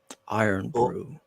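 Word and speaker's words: Irn Bru: have a drink called iron Brew in America Iron Brew or i r n it's spelled i r n b r u is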